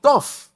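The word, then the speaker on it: טוב: que el niño era tof. esa palabra que pronunciamos así como tof, lo que en hebreo se traduciría más como bueno, agradable o incluso aceptable.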